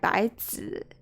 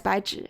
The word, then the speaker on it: Baizhi: It might have been pronounced as like Baizi. No, it's Baizhi, I'm pretty sure.